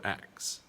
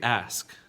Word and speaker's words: ask: word underneath it ask is it ask or acts now this one is technically ask right we when speaking on